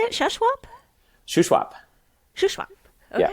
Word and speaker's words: Shuswap: that is shash how do you say it shwap shwap shwap okay shwap yeah that's that's north of the Okanagan so